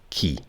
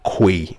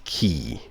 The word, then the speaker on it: quay: you had called it quay or something else. But then, the correct pronunciation is key.